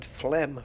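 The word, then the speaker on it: phlegm: discovered and um yeah if you look at the word fleem for example we've got a pH instead of an F we've got an L an E and A G B crept in for no reason and an M but there's you know there was reasons for it whereas Knight n i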